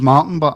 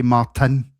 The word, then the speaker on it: Martin: Because my name's Martin, and I hate people that say Martin. I hate it. I've always pronounced my T's deliberately because Celtic fans don't say the T in Celtic.